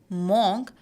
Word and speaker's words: monk: opposite of none and as the letter O is coming here people have a tendency to pronounce it as monk but it is not monk but it is monk monk see first sound sound is actually M which comes to here but there is a silent ha sound through